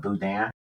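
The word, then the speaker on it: boudin: They call it budan, but it's spelled differently. Budan. Yeah. Sure. Yeah. They spell it with an a familiar with that as a nice former Louisiana resident.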